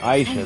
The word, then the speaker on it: Aisha: Aisha.